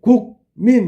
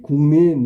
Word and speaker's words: 국민: 예를 들어 국민. 그러면 우리가 발음할 때 곡민 이렇게 해야 된다고? 아니지. 공민 이렇게 해야지.